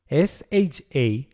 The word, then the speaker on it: SHA: SH A stands for secure hash algorithm is pronounced SHA and is in fact a family of more hash protocols.